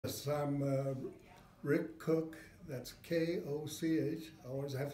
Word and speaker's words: Koch: Yes, I'm Rick Koch. That's K-O-C-H. I always have to spell it because pronounce it many different ways.